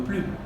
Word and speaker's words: plus: On prononce plus, c'est-à-dire on prononce le S, lorsqu'il y a devant la préposition des plus non.